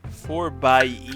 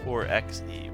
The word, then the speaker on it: 4xe: to talk about the Jeep Gladiator 4 bye. I've learned that's how you pronounce it. Not the 4XE, which is how I've been saying it for years.